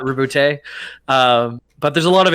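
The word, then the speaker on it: Roboute: I did a quick little research, and apparently, like, it has to be based on the Latin pronunciation. I don't know what that means for reboot. I think it's reboot, not reboote.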